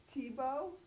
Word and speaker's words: Tietbohl: Tibo. Like a bowl of tea.